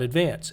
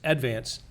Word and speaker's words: Advance: Not Advance. Advance.